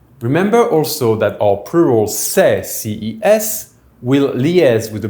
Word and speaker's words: ces: It is pronounced CES and it is written C.E.S.